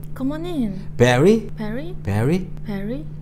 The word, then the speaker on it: Barry: Barry? Barry? Barry가 아니고 Barry. Re. Re. 그래서 R 발음은 뒤에 I나 Y가 왔을 때 베리, 우리말로 한글에 그 E가 아니라 리, 우이 있죠? 그런 형태로 발음해요.